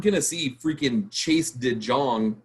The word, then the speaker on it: Chase De Jong: And so you're not going to see freaking Chase De Jong, or however you pronounce his name, which in Dutch, it's Chase De Jong. That's what his name is.